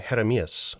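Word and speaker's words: Jeremías: became for similar reasons i became heremias with a soft j as in jalapeno jeremias had a dignified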